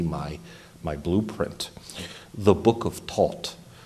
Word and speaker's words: Thoth: blueprint, the Book of Thoth. Thoth, some might accidentally pronounce it as Thoth or Toth.